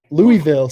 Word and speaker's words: Louisville: louisville louisville yeah right louisville slugger no louisville just less like lover yeah love her love